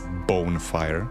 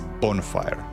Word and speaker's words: bonfire: Did I just pronounce it as bonefire? It's bonfire.